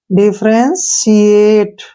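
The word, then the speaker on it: differentiate: अब यहां से देखिए, यहां से है ENTIATE, ठीक है ना, तो यहाँ पे TI का उच्चारण से के रूप में होगा, ठीक है ना, तो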